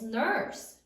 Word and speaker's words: nurse: Florence was a famous nurse. Nurse. How many syllables are there in nurse? Nurse. 1 syllable. Sound it out. N, s, silent final E.